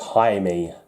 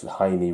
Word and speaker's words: Jaime: It's pronounced Jaime, I think, because he's Mexican descent. Did I say Jamie Reyes? It's Jaime Reyes, isn't it? Because the J's are pronounced as H's.